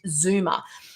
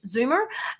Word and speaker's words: zoomer: I have to always spell it because in America, I don't pronounce it the way that it's meant to be. Zoomer, if I was to say it in American.